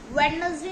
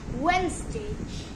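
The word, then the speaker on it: Wednesday: सो अ next word है वेडनेसडे, पर इसकी सही प्रोनाउंसिएशन वेडनेसडे नहीं है, इसकी सही प्रोनाउंसिएशन है वेंसडे। इसकी सही प्रोनाउंसिएशन वेंसडे है। हमें इसमें डी को प्रोनाउंस नहीं करना है, हम इसमें डी को प्रोनाउंस नहीं करते हैं।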